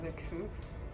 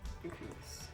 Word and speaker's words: The Kooks: Like half of my summer jams playlist on Spotify are songs by The Kooks.